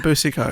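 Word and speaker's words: Boucicault: that that's the difference between and the great buso that's right that's why he's the greato that's why he's that we've all heard of exactly a household name and I'm nothing Dion buso Dion buso I wouldn't even know how to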